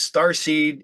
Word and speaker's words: StarSe3d: a band name and the the uh it's star seed and it's uh is is it in the the se3d yeah so just pronounced as starc but it is spelled with